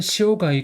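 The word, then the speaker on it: 塩貝: 26번은 시오가이 켄토입니다. 그래서 시오는 여러분도 아시죠?시오 소금. 네. 그 발음입니다. 그래서 성은 이제 시오가이 소금염 조개패 시오가이 그다음에 이름은 이제 캔토라고 해서 굽세컨 사람인 해서 캔 그다음에 토는 아까 배웠죠.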